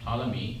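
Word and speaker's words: Ptolemy: Claudius toy is pronounced toi p is silent cloudious toy this is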